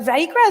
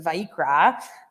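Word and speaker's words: ויקרא: But Vayikra is really interesting because the word Vayikra means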